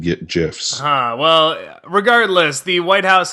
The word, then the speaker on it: GIF: I don't know why I would have said GIFs. Well, regardless, the White House has declared GIFs will be pronounced with a hard G.